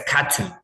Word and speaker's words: cartoon: But with British, they just say it's a cartoon. Cartoon. It's a cartoon based about a cartoon, okay? They don't pronounce the R. They don't pronounce the R. Remember, just cartoon.